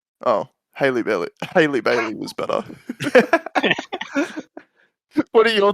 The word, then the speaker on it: Halle Bailey: would you pronounce the E in that? That'd be Halle Bailey, I reckon. Oh, Haley Bailey. Haley Bailey was better.